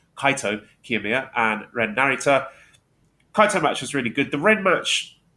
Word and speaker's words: Kaito Kiyomiya: So since we last spoke, he's had wins over Kaito Kiyomiya. No, not Kaito, I've said it wrong. Kaito Kiyomiya and Ren Narita.